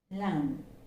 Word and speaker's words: learn: has the alphabet are it's not articulated at all it is silent it's learn and not learn okay so the word is learn and learning learn that's